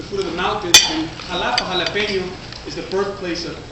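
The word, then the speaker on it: Xalapa: The capital of Veracruz is Jalapa, spelled with an X, jalapeño.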